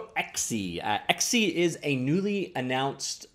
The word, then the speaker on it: ECSY: checking out XE actually literally pronounced XE very close to XE for my liking